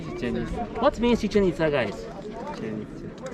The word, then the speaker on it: Chichen Itza: Chichen Itza. It's not chicken pizza. No, not chicken pizza, amigo.